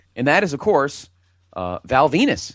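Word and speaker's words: Venis: And that is, of course, Val Venus. Rhymes with penis.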